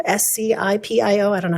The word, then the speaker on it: Scipio: valley diamond valley elkridge hennifer i'm gonna completely mispronounce this scepio s-c-i-p-i-o i don't know how to say that scipio